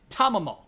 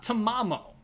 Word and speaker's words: Tamamo: It's Tamamo, not Tamamo.